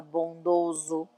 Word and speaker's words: bondoso: Que o S entre duas vogais, ele tem som de Z. Então, a pronúncia é oso, carinhoso, carinhosa, bondosa, bondoso, tá?